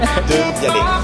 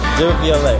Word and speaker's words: Devialet: How do you pronounce it again? Devialet. Devialet. Devialet. Okay, love it. Yeah, it's a French, typical French name.